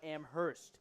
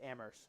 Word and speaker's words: Amherst: Amherst, right? Amherst. It's pronounced Amherst. My professor, Greeley Kyle, shout out Greeley if you're listening. He pounded it into my head. It is not Amherst. It's Amherst.